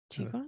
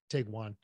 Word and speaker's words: Tiguan: I know, but I They're like to very tell him that it's just an overpriced Tiguan. Got Or, it. yeah. Let's settle this now. I think it rhymes with pecan.